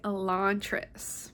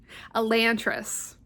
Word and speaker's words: Elantris: But the final book for this video is going to be Elantris. Nope, that's not how you say it. Elantris.